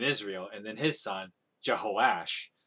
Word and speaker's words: Jehoash: I was trying to keep like the more closer to Hebrew with like the J's being replaced with the Y sound.